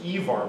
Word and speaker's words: Ivar: all of them because you thought of him as Ivar which is what his mom called not Irina bar owners that's how you pronounce it us so there's a